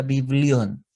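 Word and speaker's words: βιβλίον: palabra biblia significa biblión o sea se pronuncia biblión y quiere decir literalmente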